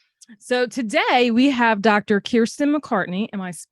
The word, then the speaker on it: Kiersten McCartney: Kiersten McCartney. Am I pronouncing that right?